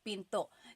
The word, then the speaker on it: pinto: Pinto. Do you hear the glottle stop when I say pinto? Pinto. So, it's not pinto. It's not pinto beans, right? It's pinto.